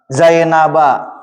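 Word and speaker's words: زينب: Tapi kalau kitab Zainab gimana bacanya? Kitabu Zainaba. Karena menusarab itu di dijarkan dengan fat fathah. Zainaba.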